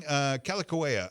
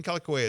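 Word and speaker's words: Kalākaua: In 1887, the King Kalakaua, I think is how you say that, King Kalakaua, his interior minister, was an American lawyer, and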